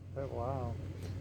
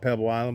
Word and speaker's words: Pebble Isle: Pebble Isle. People call it Pebble Island, but it's spelled, ISLE, Pebble Isle.